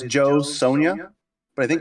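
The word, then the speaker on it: Jo Sonja: So I found something called, and I'm going to screw up the pronunciation because I think it's Spanish. Phonetically, it's Joe Sonia, but I think it's Yo Sonia is how you pronounce it.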